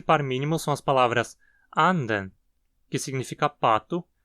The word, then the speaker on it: anden: mínimo são as palavras anden, que significa pato, e anden, que significa espírito. Em anden, nota-se que a frequência cai da primeira para a segunda sílaba. Anden. Já em anden, ela segue alta. Anden.